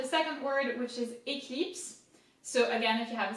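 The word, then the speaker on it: Éclipse: So it makes E, cli. Again, I is I in French. Eclipse. Eclipse.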